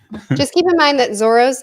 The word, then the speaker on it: Zoro: they like exchange so if you see an L in a name it'll probably be pronounced as an R okay interesting I'll probably